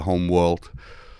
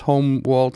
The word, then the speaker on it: HolmWold: pronounce it quite different think of it as homer yeah but it's not it's not home and it's not world so this is where